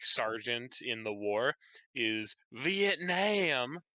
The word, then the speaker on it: Vietnam: in the war is Vietnam. That's actually closer to the pronunciation used by Vietnamese people.